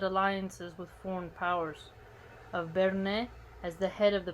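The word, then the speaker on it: Berne: with foreign powers of bernay as the head of the protestant association okay so that's spelled b-e-r-n-e almost sounds like bernie bernie sanders sounds funny and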